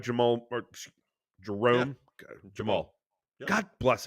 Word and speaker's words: Jamal: and and and to bring somebody in like Jamal or Jerome Jamal God bless it you said